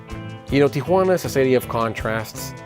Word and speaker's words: Tijuana: While people popularly call it Tijuana, the real name is Tijuana. The J is actually pronounced like an H. You know, Tijuana is a city of contrasts.